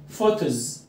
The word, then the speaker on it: photos: photos ال PH ده digraphs. تمام؟ يعني ايه digraphs؟ يعني حرفين ليهم صوتين، ال P صوته ب وال H ه، الاتنين مع بعض يعملوا صوت الف ساوند.